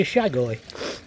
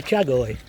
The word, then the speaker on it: chagoi: It even tells you how to say it, which I ought to use yesterday when I called a fish a shagoi instead of a chagoi.